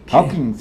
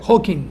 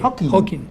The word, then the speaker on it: Hawking: Aparte de que existe la posibilidad, según nuestro amigo Hawkins, el físico, ¿Cómo se pronuncia? Hawking. Hawking. Sí, sin S. Hawking.